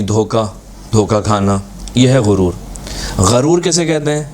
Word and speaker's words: غرور: غرور کیسے کہتے ہیں؟ یعنی اگر غین کے اوپر زبر ہو, غرور.